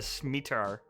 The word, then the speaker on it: scimitar: Well, I'm sorry, it's not a sword, it's a scimitar. Or schmitar, whatever. I can't speak right scimitar? now. Scimitar, that's the word, that's how you say it.